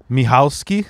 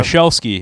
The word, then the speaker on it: Michalski: That's the Polish pronunciation. Right. Yeah, Michalski is how my family botched it a long time ago. Is that how you tell people? Yeah, like Michelle went to ski, Michalski, you know?